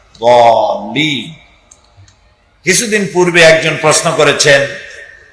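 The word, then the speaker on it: الضالين: সেই জন্য জল্লিন যদি কেউ পড়ে তাহলে নামাজ অশুদ্ধ হয়ে যাবে। এটা দল্লিন গায়রিল মাগদুবি আলাইহিম ওয়ালা দল্লিন, দালও না আর জও না, উচ্চারণ হবে এর মাঝখান দিয়া, দল্লিন।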